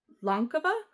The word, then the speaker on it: Lankava: This is the Lankava, I believe is the pronunciation. Lankava. It's Finnish.